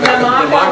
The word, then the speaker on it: Ntampaka: Ntampaka rhymes with Chewbacca.